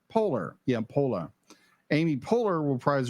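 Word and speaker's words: Poehler: personal personalized emotions um Amy how do you pronounce her last name Polar Polar yeah polar Amy polar reprise her um her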